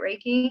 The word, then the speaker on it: Reiki: Is that how you say it, Reiki?